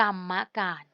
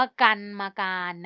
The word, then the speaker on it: กรรมการ: ดู คำ แรก กรรมการ อ่าน ว่า กรรมการ เห็น ไหม คะ เขา ไม่ อ่าน ว่า กัน มา การ นะ คะ เห็น ไหม